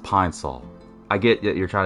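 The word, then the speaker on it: Pine-Sol: What do you got there, peen sol? Really? It's pronounced pine sol.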